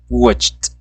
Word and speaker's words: watched: Regular, watch, watched. Acuérdense esa T al final en pronunciación, si al principio no le sale no importa, ahí vamos.